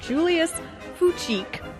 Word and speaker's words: Fučík: And it was originally composed in 1897 by a Czech composer named Julius Fučík. But the way you spell it is Fucik.